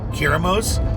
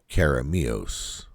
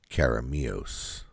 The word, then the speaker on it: Keremeos: is to go out by a place called kirimos for the record I'm completely mispronouncing the name and at some point in this video I will edit in the proper way to pronounce the name caramios caramios but you're going to hear me call it